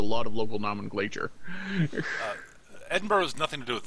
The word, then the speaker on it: Edinburgh: of English thing so isn't that Edinburg that's Edinburgh that's how it's pronounced oh I I've been